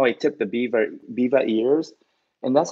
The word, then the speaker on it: Biewer: how I do the how I tip the Biewer ears. And that's how you pronounce the name of this breed.